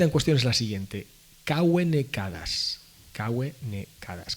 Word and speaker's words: cave: La cita en cuestión es la siguiente: Caue necadas. Caue necadas. Caue se escribe cave con V, pero se pronuncia caue, porque nuestras actuales U y V en latín eran todas Vs.